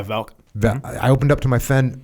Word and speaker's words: Valk: How do you say his name? Yeah, Valk.